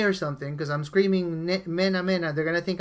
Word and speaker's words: Mena: My last name is M-E-N-A, Mena. That's how you say it in Spanish.